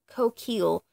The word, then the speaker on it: Coquille: Coquille, I believe is how it's pronounced. It's the French word for shell, and it's part of the words that make up Rococo.